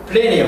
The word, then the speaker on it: plenty: Plenty of, 하고 싶 plenty of. 60, plenty of. T를 발음하지 않아.